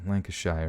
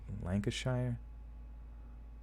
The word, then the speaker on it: Lancashire: I'm a 54 year old driving instructor from Lancashire in the UK wait Lanka's shire oh bla pronouncing anything is just like the most painful